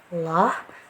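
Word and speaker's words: الله: pengucapan lafadz Allah nah jangan menambahkan huruf wau atau huruf w ya di dalam bahasa Indonesia huruf ya pada lafal Allah karena kekeliruan yang banyak sekali terjadi ketika pengucapan lafadz Allah itu selalu ada huruf wau atau huruf w nya secara tidak sadar jadi harus lebih hati-hati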